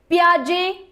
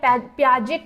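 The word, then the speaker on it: Piaget: According to पियाजे the formal operational thought अपीयरर्स between the एज ऑफ पियाजे बोलेंगे आप इसे या पियाजेट भी बोल सकते हैं। पियाजे है वैसे टी साइलेंट होता है।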